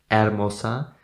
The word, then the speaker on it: hermosa: of this word because you don't pronounce the letter H in Sp Spanish you never do that Arosa that might be uh